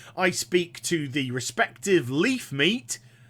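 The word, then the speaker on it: Levemete: speak to the respective Leaf meat yes that is how you pronounce it in whichever town I'm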